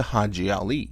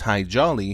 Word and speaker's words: Haji Ali: After he converted to Islam, he changed his name to Haji Ali, later mispronounced as High Jolly when he immigrated to the United States.